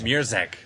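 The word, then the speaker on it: Mruczek: Murzek.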